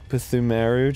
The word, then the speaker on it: Ptumeru: And I'm gonna use the Ptumeru chalice. Pretty sure that P is silent. Ptumeru chalice? It's just Ptumeru.